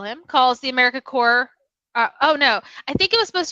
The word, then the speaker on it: Corps: I know, the S is silent. Corps.